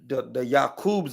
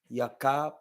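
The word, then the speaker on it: Ya'qub: Yakub or Yakab, Ka, Yakab. It's not Yakub. It's not how you pronounce that. It's Yakab because the J doesn't even, that don't even exist.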